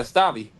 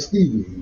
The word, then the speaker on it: Stavi: Did I say his name wrong? Who? You said what's his name? Stabby? Yeah, Stavi. I said Stevie.